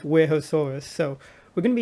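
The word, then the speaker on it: Wuerhosaurus: animal would be the warehouse source um i'm still not sure if i'm pronouncing that right i don't think anyone does um i think it's pronounced werehoesaurus so we're going to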